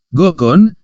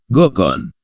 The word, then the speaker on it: gonghon: Hen seharusnya gokon pengucapan jadi penulisan kata goghon itu seharusnya adalah gonghon dengan pengucapannya gokon karena aturan penulisan bahasa Batak Toba apabila ng bertemu dengan h dalam satu kata maka ng dan H itu diucapkan dilafalkan Kak sebagai contoh tertulis mangholom